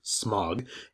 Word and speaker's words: Smaug: this version and how smaug or i'm sorry as he's pronounced in this movie smog is more based on